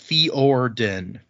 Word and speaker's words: Fjorden: of them are like apparently fjordan is pronounced fiorden fjorden so the j doesn't really seem to have much effect well that sort of